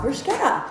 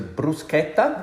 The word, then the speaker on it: bruschetta: Okay, so first up, our bruschetta. Am I pronouncing it correct? Not so much. It's fine. Like the correct pronunciation is a bruschetta. Bruschetta. Yeah, the CH sounds like a K.